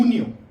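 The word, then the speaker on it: junio: करते हैं जून की जून को हम लोग बोलते हैं हुन हुनियो हुनियो इसलिए क्योंकि हम स्पेनिश में जे को हम एच की तरह प्रोनाउंस करते हैं। तो जून हो जाएगा हुनियो।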